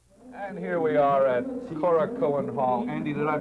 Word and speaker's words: Korakuen: And here we are at Korakuen Hall. Andy, did I pronounce that correctly? That's Korakuen, right.